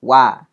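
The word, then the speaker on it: は: Kalau dia bersebelahan dengan kata-kata tadi itu ada hiragana ha, nah itu pasti dibacanya sebagai partikel wa ya.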